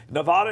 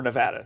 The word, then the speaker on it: Nevada: I thought is interesting Nevada is a swing state or Nevada depending on how you say it it's a swing state Nevada don't say it the other way okay so